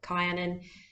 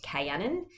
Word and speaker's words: Kaianan: see some people have asked me can they pronounce it caianin uh it's really up to you it is pronounced cannon so the eye is very much uh silent